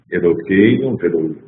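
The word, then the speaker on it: אֱלֹהֵינוּ: Ou, uma pronúncia sefaradi, Elokeinu, Velokei Avoteinu, e continua dizendo, eu vou pronunciar como eu tenho pronunciado normalmente, fica mais fácil.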